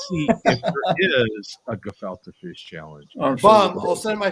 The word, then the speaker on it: gefilte: go here we go we're going to fill the fish is how you say it gefilte carrots on top and